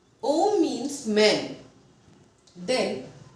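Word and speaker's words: homme: For example, Om. Om, H is silent. So, we are going to say Om. Om means men.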